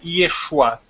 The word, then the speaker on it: Yeshu: E não é Yeshua. Escreve Yeshua, mas não sei porque lá no alfabeto deles eles pronunciam Yeshu. Pronto. Yeshu e pronto.